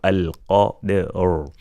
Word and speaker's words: القدر: The dal is qalqala, is silent, and a qalqala letter, the sound of the qalqala letter will be half or less than half of its sound if it was fatha.